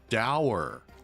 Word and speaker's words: dour: If his job is to be the laureate, that's a terrible mispronunciation of the word dour. Anyway, I don't want to nitpick too much. But it's dour.